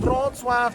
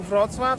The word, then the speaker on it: Wrocław: 2 hours, not even 2 hours to come from Poznań to Wrocław, so it's not that bad. And can you pronounce the Wrocław properly, Sayang? Wrocław. Not Wrocław, not Wrocław, but Wrocław.